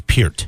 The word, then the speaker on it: Peart: So it's Pert.